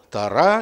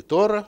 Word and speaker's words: Тора: Слово Тора или Тора, и так ударение, в зависимости от того, какие группы евреев говорят, ашкеназы или сефарды, происходит от глагола легарот.